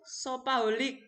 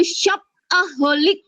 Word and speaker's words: shopaholic: Pada pembelajaran kali ini Bu Ida jelaskan, itu tadi bacanya bukan shopaholic ya, itu apa namanya dari bahasa Inggris, kata serapan yang kita pakai yaitu shopaholic bacanya ya Maria ya.